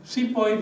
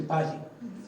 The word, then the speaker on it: sipahi: this wrongly called sipahi SEO Mutiny the British were as murderous with pronunciation as they were with people and there was no SEO there was a sepahi but it was not